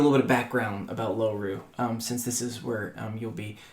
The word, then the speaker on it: Loru: It's spelled like four letters. Really simple. L O R U um Lom Ru Loru and Loru